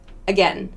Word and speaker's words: again: other vowel another example this a in again again that sound again that's a schwa one more this e